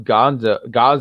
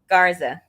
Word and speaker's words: Garza: He once again going into Survivor Series, him losing to Gaza. Was it how you say it? Garza.